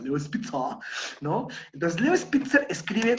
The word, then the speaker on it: Leo Spitzer: Leo Spitzer, que es alemán, entonces se debe pronunciar Leo Spitzer, ¿no?